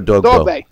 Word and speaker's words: Dogboe: How do you pronounce his last name? Dogboe or Dogboe?